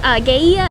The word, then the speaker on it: Gaia: We ate at Gaia, is how it's pronounced. Gaia bistro, and it was so delicious.